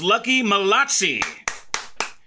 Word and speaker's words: Lucky Malatsi: phone ring Master for Cardon International circus it's lucky motti did I say it right did I say